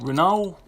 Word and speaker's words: Renault: If the LT is silent, it would be Renault.